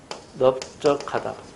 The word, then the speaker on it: 넓적하다: 넓적하다 넓죽하다 넓둥글다 이럴 때는 또 예외입니다. 이럴 때는 특이하게 넙으로 발음해요.